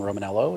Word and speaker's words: Romaniello: just my name romanello it's spelled r-o-m-a-n roman like the empire and then i-e-l-l-o most of what i